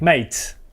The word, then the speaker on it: mate: Could it be te? No, this is mate. Like mate. It's pronounced like mate.